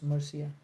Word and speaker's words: Marcia: Oh, it's Marcia. Guys, make sure कि आप नाम कोई स्पेलिंग और नाम को करेक्ट प्रोनाउंस करें, क्योंकि